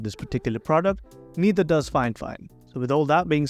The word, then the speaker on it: FiFine: hell yeah that's right it's actually pronounced fine fine and not F fine and I know I'm